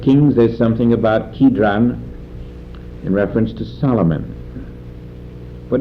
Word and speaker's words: Kidron: Cedron you'll find in the Old Testament too. It's spelled there Kidron, and here it's Cedron.